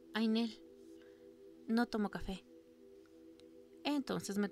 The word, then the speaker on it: Nell: Se pronuncia Ainel.